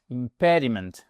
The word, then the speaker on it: impediment: C'est speech impediment impediment accentuation ici. OK. Ça c'est votre accentonique.